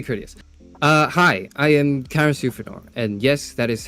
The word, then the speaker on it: Euphranor: Euphranor is debatably pronounced Euphranor if you're going by the Greek, but you can just say Euphranor because it makes more sense.